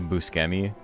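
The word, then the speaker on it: Buscemi: It's so funny the way people look at you when you say Steve Busi because that's how his name is pronounced. That's how he pronounces his name.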